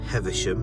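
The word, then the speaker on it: Heversham: I was actually in the wrong place for heathersham and that's correct how it's pronounced I thought it was down here but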